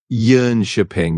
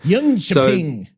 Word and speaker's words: Jönköping: You're looking at Jonkoping, which is basically pronounced something like Jönköping. You got that little yearn sound at the start and then a soft ping at the end. Jönköping.